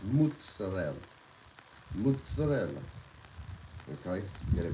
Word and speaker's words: mozzarella: a lot of you out there like to pronounce it mozzarella. It's not. It's mozzarella.